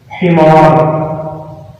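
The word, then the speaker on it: حمار: Himar. We pronounce it himar.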